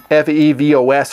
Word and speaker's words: Phoibos: not Newton fancy and it is fievel's f ee vos apparently not my pronunciation which will be Phoebus maybe I'll go with